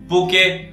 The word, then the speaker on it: bokeh: हैं पका पके बके बहुत ही अलग-अलग टाइप से लोग इसको प्रोनाउंस करते हैं पर जो इसका सही प्रोनंसिएशन है वो है बोका जिसको आप यूजुअली स्पेल करते हैं बी ओ के ई एच और अगर आप चाहे कहीं